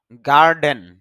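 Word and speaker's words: garden: গার্ডেন আমরা সচরাচর গার্ডেন বলি। কিন্তু আইপিএতে দেখা যাচ্ছে ডর পরে এ সাউন্ড নেই।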